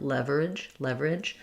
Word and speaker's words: leverage: Leverage. But it's almost gone. There's almost no schwa there before that R. Just going right to leverage, 2 syllables.